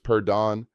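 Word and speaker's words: perdón: For getting someone's attention or asking to pass by, use perdon pronounced perdon. The stress falls on the final syllable.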